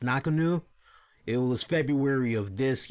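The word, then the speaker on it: Ngannou: 1 again as Francis I think the last name is pronounced knock anew it was February of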